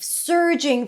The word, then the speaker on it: surging: That's great, said Harry, relief surging through him. By the way, surging is rushing or increasing suddenly and powerfully. Surging, as in stir.